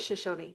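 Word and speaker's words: Shoshone: Um and I our chair has just explained the proper pronunciation our cultural appropriation. Yes. Yes. But it is Shashony.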